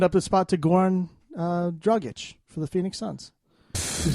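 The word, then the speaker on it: Dragić: You didn't even make fun of the fact that I said his name wrong. Because you don't even know his name. Oh, it's Dragic. Dragic.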